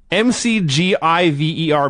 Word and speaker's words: McGiver: him a giver and we're not mispronouncing that by the way m-c-g-i-v-e-r mcgiver yeah they pronounced it MacGyver but they spelled it mcgiver they do this all